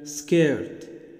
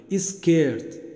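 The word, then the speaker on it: skirt: اللي هو كلمة مثلا اسكن، تلاقي بينطق كده حرف الاي في الاول كده، اسكيرت اسكاي. تلاقي بعض الاولاد كده وبعض البنات بدون طبعا ايه ما يكون قاصد، طبعا انا عارف ان هو مش قاصدين، هي بدا بالاس كي، ولكن تلاقيه بيجيب حرف الاي كده في النطق غصب عنه. لكن انا عايزك تقف على الاس وتخطف الكلمه كده، سكن سكيرت سكاي.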